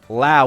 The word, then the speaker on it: Lowe: is spelled, yeah, it's Lowe, but his name is Lowe.